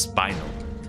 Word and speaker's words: spinel: It is supposed to be pronounced spinel, although I do pronounce it as spinal because of spinal from what is it called?